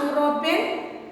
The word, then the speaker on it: European: I saw dash European today. Dash European. It is ya. It is pronounced as ya. E and U. It is pronounced as ya.